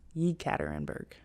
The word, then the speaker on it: Yekaterinburg: And then I think I had like a 6-hour layover, and then I flew to Yekaterinburg. That's how it's pronounced.